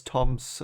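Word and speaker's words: Thom: have it anymore but with old names the the h in a word is silent so it seems to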